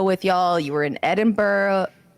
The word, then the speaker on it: Edinburgh: locals would say Edinburgh.